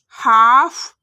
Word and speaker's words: half: तो देखिए जैसे वॉक काम हाफ टॉक बाम साव ई भी मोस्टली साइलेंट रहता है।